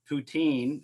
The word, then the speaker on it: poutine: that are watching, poutine, am I saying that right? Poutine? Poutine is like the French Poutine pronunciation, but I think that's just is as good.